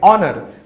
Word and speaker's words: honour: इन दोनों शब्दों में H जो अक्षर है ये साइलेंट है, हम इसका उच्चारण नहीं करेंगे, तो इसलिए ये शब्द शुरू होते हैं वावल O की आवाज से।